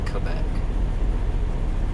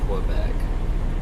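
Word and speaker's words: Québec: That's the correct pronunciation, is Quebec. You don't say Quebec. They don't say Quebec. We tend to say Quebec.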